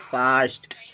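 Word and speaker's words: fast: जैसे कि एफ एस टी फर्स्ट नहीं बोलेंगे इसको बोलेंगे फास्ट।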